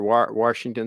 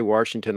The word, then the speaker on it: Washington: Washington, there's no R. Washington. Some of us say Washington like there's an R in there.